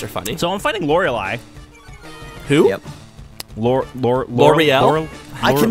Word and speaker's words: Lorelei: Says like the champagne. I always say Lorelei because she's got the E in there, and I make fun of her name. But I say it so much that that's not how you pronounce it. It's Lorelei.